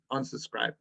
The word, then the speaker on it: unsubscribe: So today, guys, I'm going to teach you about how to unsubscribe. Unsubscribe. Unsubscribe. Can you say it with me? Unsubscribe. Unsubscribe. The stress is on scribe. So it's unsubscribe. Unsubscribe. It's 3 syllables.